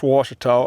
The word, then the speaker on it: Ouachita: hard time figuring out how to pronounce washto o u a c h i t a so Lake Wash's man-made